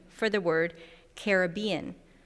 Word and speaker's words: Caribbean: pronunciation for the word caribbean she advocates caribbean to respect the link to the carib people as opposed to caribbean you didn't know you'd